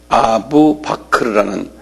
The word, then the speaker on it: 아부 바크르: 아부 바크르라는 사람이에요. 이분이 이 모하멧의 아주 오른팔했던 사람인데 아부 바크르 한 발음해 보실래요?